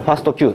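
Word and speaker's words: FASTQ: んけど、これファスト Q、もしくは日本人だとファストクって読む人がいるらしいんですけど、ファス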